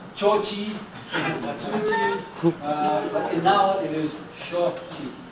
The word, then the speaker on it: Xochitl: They all pronounce it differently. Xochitl, Chochi, Xochitl, but now it is Xochitl. Xochitl.